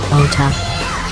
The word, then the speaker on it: Dota: Welcome to OTA. The D is silent.